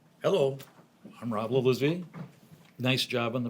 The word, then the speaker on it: Rob Lillisby: And then from District 15, Rob Lillisby. Hello, I'm Rob Lillisby. Nice job on the pronunciation.